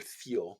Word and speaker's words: Thiel: of constraints and so peter thiel or thiel i think he's pronounced that field t-h-i-e-l peter thiel he's one